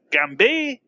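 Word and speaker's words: Gambit: you may know him better as gambi you don't pronounce t in French and who should come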